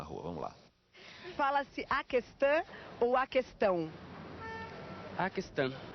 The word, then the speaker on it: questão: E é questão de acordo com os dicionários, não existe trema nessa palavra, portanto esse U não deve ser lido. Questão. É fato também que em muitas regiões do Brasil se pronuncia esse U, questão.